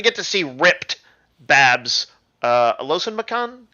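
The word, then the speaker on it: Olusanmokun: Alosan Makan? Is that how you say it? Yeah, Olu Sanmakun, but close enough.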